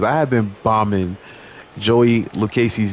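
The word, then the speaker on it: Lucchesi: simply said to me I'm pretty sure it's pronounced Liu Casey and he he he even broke it down in pronunciation shout out to you bro cuz I have been bombing Joey lucasey's name for so long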